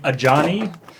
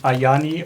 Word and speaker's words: Ajani: I got really confused because for a while people were jokingly mispronouncing Ajani as like Ayani or like Okay. pronouncing the J as a Y just to be weird.